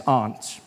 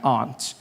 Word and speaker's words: aunt: For instance, I pronounce the opposite of uncle as aunt. I say my aunt. Out here, you say my aunt. Which to me is an insect.